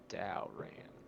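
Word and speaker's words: Daoran: r i toric and Daran is d a o r a n Dow ran got it indeed yeah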